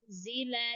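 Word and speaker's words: أُنزِلَ: wal walladzina yu'minuna bima unzila ilaika wa ma unzila min qablik. Harf unzila, lafat unzila, koreksi sedikit di lafat. Pengucapan unzila la taqra unzila, bukan ditambahkan di zai, tapi Unzila.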